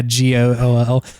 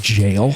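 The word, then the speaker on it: gaol: jail in the sky the ghoul jail spelled g yeah gool that's that was so shocking to me finding out that that's a way to pronounce jail I know I thought it was go yeah of course cuz that's what it looks like an ultra bad jail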